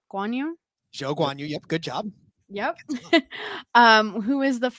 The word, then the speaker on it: Zhou Guanyu: So it was a nod to him and just the precision of racing, and it's inspired by Zhou Guanyu. Zhou Guanyu.